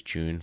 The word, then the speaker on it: JOON: as in the month it's June as in Jo N.O correct yes so June